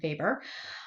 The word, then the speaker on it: Weber: That W is pronounced as a V. It's not Max Weber, it's Max Weber.